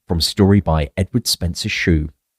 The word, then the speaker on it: Shew: Davidson, from story by Edward Spencer Shew. That's spelled S-H-E-W, by the way, not S-H-O-E. Just in case anyone my odd pronunciation.